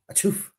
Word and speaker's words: Chouffe: So the brewery itself is located in Chouffe, like you sneezed, Chouffe.